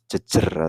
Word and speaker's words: Jejer: Pleret Bantul, Yogyakarta, yang sekarang dikenal dengan makam Jejer atau Jejer itu bacanya.